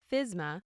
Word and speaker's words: FSMA: The Food Safety Modernization Act, commonly shortened to FSMA and pronounced FSMA, is a federal law.